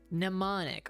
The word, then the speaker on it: mnemonic: Mnemonic. Oh, okay. I was trying to pronounce the M and M.